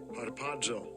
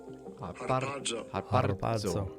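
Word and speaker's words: ἁρπάζω: There's a twirling of the R's in Greek, and I can't do it, but here it is. Strong's G 726. Harpazo. Harpazo.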